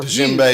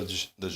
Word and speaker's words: djembe: I don't know what it is, but they're djembe huge. or djembe. They're huge. They're huge. And maybe that's what it is. That sounds familiar. It's a really tall one, the djembe.